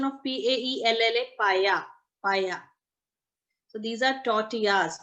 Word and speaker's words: paella: ਹੈ prawn and these are tortillas ठीक है pronunciation of PAELLA paya paya so these are tortillas TORTILLA TORTILLA it's